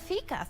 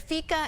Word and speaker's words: fika: first started, is it Fika? Is it Fika Fest? Because some I saw different pronunciations. Yes. But pretty much it has a cute little meaning, Fika. Yeah, so Fika is a Swedish tradition.